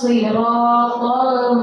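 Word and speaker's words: الصراط: Jadi ihdinas siratal mustaqim. Sir itu shad, sirata huruf to, bukan ta, tapi to.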